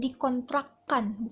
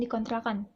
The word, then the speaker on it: dikontrakkan: dikontrakkan gitu jadi gitu pengucapannya jadinya dikontrakkan bukan dikontrakan kalau dikontrakan itu e